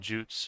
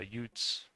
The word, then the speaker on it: Jutes: pronounce it angles and saxons and jutes or I think the Norse way would be utes.